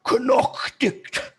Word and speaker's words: knight: English is phonetical, meaning if they were to say the Old English word knight, like a knight in shining armor, it would be Knockdicht.